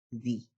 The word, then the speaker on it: the: la pronunciación correspondiente es de banana, de dogs. Frente a un sustantivo que comience con vocal o sonido de vocal, el sonido correspondiente es the end, the egg, the apple.